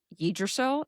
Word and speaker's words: Yggdrasil: But the tree, which might be, I think Yggdrasil is how you pronounce it.